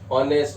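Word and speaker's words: honest: अब ये ऑनर, इसमें भी सम्मान, ऑनेस्ट, ऑनेस्टी, ऑनरेबल, सब में एस साइलेंट है, ओके।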